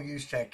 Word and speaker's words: Juszczyk: made special by for tayor by uh Christian yek spell it with me now why you s Zu